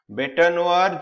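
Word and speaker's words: bête noire: बेटानोआर जो होता है, बेट नोआर, जैसे बेट नोआर ऐसे इसका प्रोनाउंसिएशन होता है।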